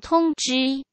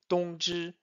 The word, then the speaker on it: 通知: So T-O-N-G-Z-H-I with the first tone on O and I. And finally the pronunciation 通知.